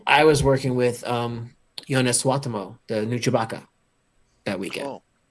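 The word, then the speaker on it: Suotamo: And I was working with Jonas Swatamo, the new Chewbacca, that weekend.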